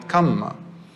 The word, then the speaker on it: kamma: I say karma because that's how they say it. We call it kamma, but it's the same thing.